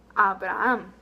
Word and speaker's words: Abraham: So, the same name in Spanish, we would say Abraham.